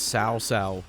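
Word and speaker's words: Cao Cao: Actually, I think I'll be saying I think it's Sao Sao. Like C H C A O. It's pronounced like SA.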